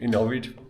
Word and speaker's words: Ohrid: And we zoomed in, and there's actually an Indian restaurant in Lake Ohrid, Ohrid, say it properly.